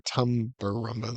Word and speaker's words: Tumbarumba: Or Tumbarumba. That's how you say it.